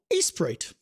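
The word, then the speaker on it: Aseprite: not it's $20 normally that's a program called Ace prite it's pronounced Ace prite but it's like Ace prite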